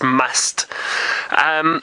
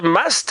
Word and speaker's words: musth: Preetam, you'd like to know about the elephant's musth. So I think those two bulls that Taylor saw didn't look like they were in musth, but you could see they were actually quite old males. Now, the musth is basically what happens, and it's spelt M-U-S-T-H.